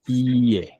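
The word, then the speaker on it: いいえ: ইয়ে হচ্ছে ইয়ে, ই ই এ, ইয়ে একটু টান দিয়ে বলতে হবে, ইয়ে, ইয়ে, ই এ, মানে ইটা একটু টান দিয়ে পড়তে হবে, ই এ, ইয়ে, ঠিক আছে?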